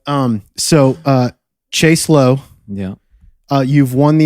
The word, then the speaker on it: Chase Lowe: a millennial in atlanta whose name rhymes with mace below what that specific category